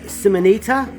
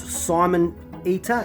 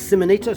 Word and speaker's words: Simonita: surname correctly it's uh I would pronounce it Russell uh simonita or not Simon eater so it's simonita so my apologies if